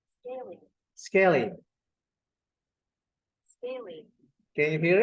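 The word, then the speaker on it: scalene: n e right okay let's hear about its pronunciation scaling scaling scaling can you hear it scaling scaling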